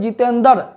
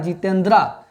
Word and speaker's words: जितेंद्र: इसीलिए इसमें क्या लगता है, जितेंद्रा, ठीक है। जितेंद्रा नहीं पढ़ेंगे, जितेंद्र पढ़ेंगे, लेकिन द्र जो पढ़ते हैं, द्र में ओ बोलना पड़ता है वहां हमको, इसीलिए उसका इंग्लिश लिखना पड़ता है।